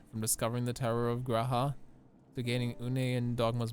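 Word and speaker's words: G'raha: uh graham anyway or is it g raha has ever been saying the entire time is it g raha is the way it's pronounced chat and i've been saying gahara the entire time curse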